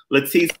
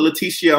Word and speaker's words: Latice: And it's Latice Crawford. That's how you pronounce it. Don't put Leticia on it. Don't call her Latrice. Don't call her Lala because that's not her name.